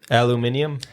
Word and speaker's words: aluminium: A metal one, aluminum probably. Yep. Yep. Aluminium?